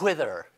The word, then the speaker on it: Whither: I do want to point out that it's Whither with an H, not like, anyways. It's very hard. Whither.